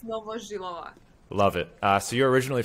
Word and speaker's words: Novozhylova: It's Novozhylova.